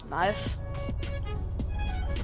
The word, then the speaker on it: knife: I'm gonna get a new knife. Nif? Knife. A nif. A knife. We call it a nif because the K is silent.